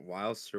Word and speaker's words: Whylster: It's Wildster with the hard R, all right.